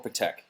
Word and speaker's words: Patek: Do you pronounce it Patek or Patek? I'm I curious. say, how do I say it? Patek. Patek, right? Yeah, I was pronouncing it Patek, but I was like Patek, Patek. Elite. I say Patek.